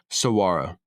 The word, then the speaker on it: saguaro: with the pronunciation here the giant saguaro cactus saaro SAR Gus g is silent does not grow arms